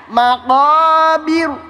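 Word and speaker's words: مقابر: Nah, kemudian ini kan dibaca tebal yang di bawah dibaca tipis. Bagaimana cara bacanya? Yuk bareng-bareng ikutin saya bareng-bareng ya Bu ya. Iya. Maqobir.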